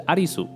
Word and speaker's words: 有栖: 男主角有希良平的姓氏有希，在日文里的读音是阿丽苏，和英文的 Alice 很像，而影集